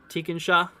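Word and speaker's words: Tekonsha: for and uh yeah tikenshaw is how you say that teakin tikon Shaw tikon Shaw um yeah heads up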